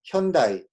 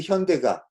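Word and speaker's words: Hyundai: 아니야 그 다음에 현대 현대는 읽기가 굉장히 어려움 발음하기가 어려운 단어에 요 대해 라는거 그래서 어떻게 발음의 현다이 슌 다 이렇게 발음 한다는 거야 근데 현다이 라고 발음할 때 어 굳이 현대가 현다이 가 아니라 현대 현대 아 이렇게 얘기하지 않았다 그래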